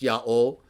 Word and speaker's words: YHWH: It has the full form of the divine name, YHWH, which I believe was still pronounced Yaho.